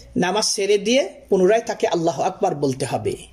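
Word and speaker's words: الله أكبر: সেরে দিয়ে পুনরায় তাকে আল্লাহ আকবার বলতে হবে। আল্লাহ আকবার উচ্চারণের ক্ষেত্রে লক্ষ্য রাখতে হবে, আল্লাহ আকবার অনেকে এখানে এইভাবে টান দেয়, এটাও হচ্ছে ভুল, কারণ অর্থের পার্থক্য হয়ে যাবে।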